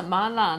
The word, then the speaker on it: mala: even the right way to say that yeah mala numbing and hot the base of the sauce